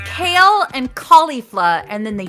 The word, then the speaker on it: Kale: How do you pronounce it? It's Kale.